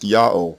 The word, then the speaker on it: Ya'oh: my initial defense yes the simplistic vowel system we have described with no vowels that arise from the contraction of pure vowel sounds a a o and I is proof in itself that God's name is pronounced yaho and there is no other viable alternative ymr alha and God